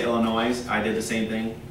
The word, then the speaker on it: Illinois: You guys, when I was in the Marine Corps and you guys say Illinois, I did the same thing. Don't pronounce S. They Illinois.